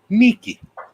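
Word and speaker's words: Νίκη: you'll see people saying Nike and you'll see people saying Nike Niki the actual sound of that word said by a Greek person is Niki yeah if it doesn't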